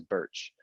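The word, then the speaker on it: Bertsch: really complicated last name my last name is birch um sounds like the tree but it's spelled b-e-r-t-s-c-h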